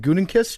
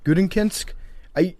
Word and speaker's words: Gutekunst: And a guy, how do you pronounce his name? Is it Gutekunst? Yeah. Gutekunst?